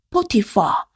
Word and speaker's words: Potiphar: 여기서 보디발이요. 끝에 스펠링을 보니까 P-H-A-R. PH가 있죠. 이 PH는요. 발음을 F 발음처럼 해주면 됩니다. fa. 이렇게요.